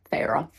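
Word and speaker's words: Feyre: So I also found out it's pronounced Fra. Last time when I was doing the uh my TBR reading, I was like, I don't know how to pronounce that. It's Fra.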